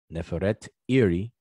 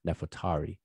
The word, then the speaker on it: Nefertari: To the left is an image of Ahmes Neferet Iri, which is her name, but we pronounce it conventionally as Ahmos Nefertari.